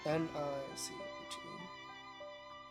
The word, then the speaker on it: niche: Adjective that rhymes with sheesh or pitch, depending on who you ask. How can they rhyme with both sheesh and pitch? Adjective. N-I-C-H-E.